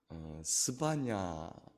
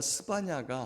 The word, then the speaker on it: 스바냐: 스바냐, 원래 스바냐회라고 하는 말인데 이스라엘 백성들은 야훼라고 하는 이름을 입에 담지 않기 때문에 스바냐까지만 발음을 합니다.